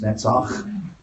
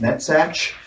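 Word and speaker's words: Netzach: right in this Hebrew it says netsock that is pronounced Nets off not net satch and Victory so that's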